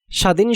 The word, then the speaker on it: স্বাধীন: বফলা উচ্চারণের ১ নং নিয়মে বলা হচ্ছে শব্দের শুরুতে বফলা উচ্চারণ হয় না, তবে প্রথম বর্ণটিকে সামান্য যোগ দিয়ে উচ্চারণ করতে হয়। স্বাধীন শব্দের শুরুতেই বফলা থাকায় আমরা বফলা উচ্চারণ করিনি।